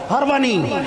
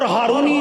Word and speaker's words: ہروانی: حضرت عثمان ہروانی، وہ صحیح تلفظ کیا ہے؟ ہروانی، اور ہارونی غلط العام ہے، تو حضرت عثمان ہارونی